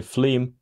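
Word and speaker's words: FLIM: Imaging microscopy F liim normally pronounced as simply fle and of course organoids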